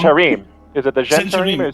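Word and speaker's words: Zhentarim: Gentarim. Is it the Gentarim or Centurim. Okay. Zentarim? Zentarim?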